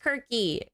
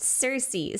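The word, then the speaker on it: Circe: his vision I I know in Greek it's pronounced Kirky but in English if it's spelled with a c it's pronounced Cersei so if you go to an English classroom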